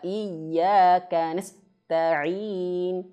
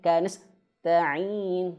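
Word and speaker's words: إياك نستعين: Jangan terlalu cepat di sini. Wa iyyaka nas ta'in, ka nas ta'in, enggak boleh. Harus dialirkan dulu anginnya, ya. Ada tempo sedikit di sini.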